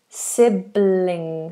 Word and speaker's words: sibling: pronounce the word sibling sibling sibling L that's a lightel in fact sibling sibling I think when an L is followed by an ing then it's generally light sibling Fernando has asked